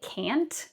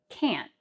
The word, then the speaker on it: can't: So, we don't say can't, but can't. Can't.